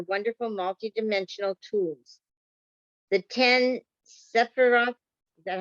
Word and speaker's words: Sephiroth: The 10 Sephiroth, is that how you pronounce that?